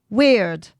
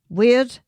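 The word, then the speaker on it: wyrd: And the first concept we're looking at is called weird. And weird is actually not spelled as weird as in odd or strange. It's spelled W Y RD and it relates to the web of interconnection.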